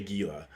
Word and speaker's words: Gila: Why did you turn the G to an H? Because that's how you say it. Okay, is it like the H becomes a J? No, J becomes an H? I don't know, but like a Gila monster.